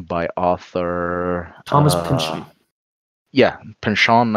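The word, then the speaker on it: Pynchon: author Thomas oh yeah pin Shawn I believe it's pronounced but you who are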